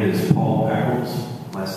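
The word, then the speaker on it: Echols: My name is Paul Eccles. Last name is spelled E-C-H-O-L-S.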